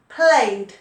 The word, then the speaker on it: played: just add ed now your pronunciation here is very important so played played it's a d sound not id not play yet not play it not watch ed no no no played so say that word